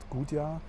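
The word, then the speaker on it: Gudja: Just got out of the airport and I'm in a small town located next to it called Gudya. It's spelled guja.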